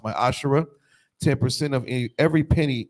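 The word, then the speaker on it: מעשר: numbers 1821 Malachi 38-10 means 10th in Hebrews pronounced my Asher 10% of any every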